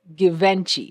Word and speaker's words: Givenchy: I pronounce it how I see it, okay? And it is given Givenchy.